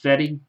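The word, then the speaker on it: Fedde: on-card autograph of Eric last name is pronounced fetty oh freaking Redemption wonderful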